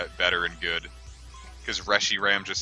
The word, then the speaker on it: Reshiram: way better and good cuz rushy Ram just sounds ugly and stupid and dumb and I refuse that it's the official pronunciation that's like the one Pokemon name I